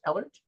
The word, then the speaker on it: Ehlert: Is it pronounced Ehlert?